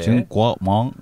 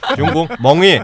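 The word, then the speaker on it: 中国梦: 중국몽. 아니죠. 그게 아니죠. 중국 멍이 약간 발음 멍 뭐 그런 거야.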